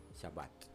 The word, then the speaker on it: Shabbat: Shabbat. Yes. Shabbat. That means You have Sabbath. to pronounce Sabbath.